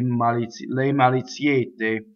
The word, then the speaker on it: maliziette: So le is a weak monosyllable. So it's not le maliziette, it's le maliziette, just one M.